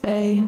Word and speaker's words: Fe: I also found it was pronounced fae, like fairies, like mythical creatures, or mystical.